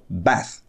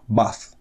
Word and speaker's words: bath: не имеет а берёт Ещё слово bath в Америке произносится через Барони тон bath А в Англии через простой а bath то есть в Англии Это примерно звучало так а в Америке Скажите bath